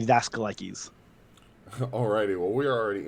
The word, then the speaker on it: Daskalakis: The way I was taught is that the American pronunciation is Daskalakis, kind of like you said. Hmm. But if you want to go more traditional, more authentic, it'd be Daskalakis.